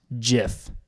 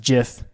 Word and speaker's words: GIF: pronunciations they are wrong it is a soft G pronounced jiff end of story end quote there